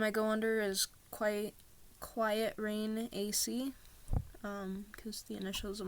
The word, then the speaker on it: QytRain: And if you don't know my other social media, it's basically Quiet Rain. That's how you guys pronounce it. It's Quiet Rain, QYTRAIN.